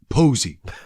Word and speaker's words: Poesy: Posey. It's good shit. Posey like the flower? I don't know. How's it spelled? Poesy. Poesy. Maybe to you, this girl pronounces it Posey.